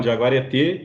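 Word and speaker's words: jaguaretê: é obra do Vergara, um jaguareté, é a pronúncia correta, Xaduro? É um jaguareté, que é a mãe do sol, né?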